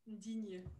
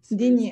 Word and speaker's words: Digne: How do I pronounce it? Digne. Digne.